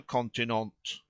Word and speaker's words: continent: took place on the continent he pronounced the last truly admirable word with the accent on the last syllable not as unaware of